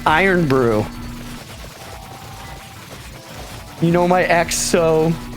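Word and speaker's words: Irn-Bru: a metallic flavor right IR Brew pronounced iron Brew you know my ex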